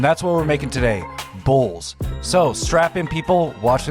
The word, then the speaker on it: Bulz: For today, I'm going to be making a Romanian dish called Bulz. And it is, yes, like it's pronounced very similar to bulls, like the animal, plural, you know, not singular.